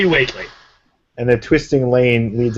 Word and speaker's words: Whately: Whately? We. It's like Worcester. No, I don't know. Yeah. For the center of town. Waitley. It's definitely Waitley.